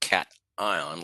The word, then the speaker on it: cation: positive ions we call cat ions it's not pronounced CS it's pronounced cat ion like a cat and an ion cat ions are positive